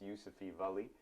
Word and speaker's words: Yusufi Vali: your viewers um and you pronounced my name really well it's yousafee valley and you know the